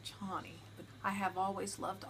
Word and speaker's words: Chani: When I read the book, I thought it was Chani, and that's what I was going to name her, and then the movie came out and they pronounced it Chani.